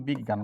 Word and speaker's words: বিজ্ঞান: মাঝে থাকলে জাস্ট গ হস গয় চন্দ্রবিন্দু। একটু খেয়াল করেন তো তাহলে বি গয় গ আছে এইখানে মাঝে গ হস গ এ চন্দ্রবিন্দু আকার ন তে ধাক্কা লাগছে ভাইয়া। কি হবে? বিজ্ঞান।